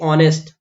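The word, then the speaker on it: honest: आ जाएगा फिर देखिए ऑनेस्ट यहां पर एच जो है इसको बोला नहीं जाता है ये साइलेंट होता है तो आप देखो ऑनेस्ट ऑनेस्ट आ में औ की मात्रा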